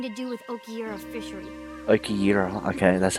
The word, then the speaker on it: Okiura: Okiyira, okay, that's how you say it.